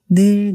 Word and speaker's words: 늘: 발음을 할 때 좀 길게 늘이라고 말하는 게 뉘앙스를 잘 나타낼 수 있어요. 언제나 변함없이 항상 이런 의미를 지니고 있는 나름 낭만적이고 로맨틱한 단어거든요. 그래서 부드럽고 길게 발음해야 느낌을 잘 살릴 수 있습니다.